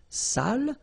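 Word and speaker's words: sale: So if you don't put the accent it means dirty and then you pronounce it sal.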